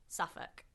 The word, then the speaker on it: Suffolk: That is just the way it is with British place names. They are pronounced very differently from how they're spelled. Okay. So, what is it called one more time? Suffukk.